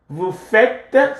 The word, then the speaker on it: vous faites: Vous faites. See how this is pronounced?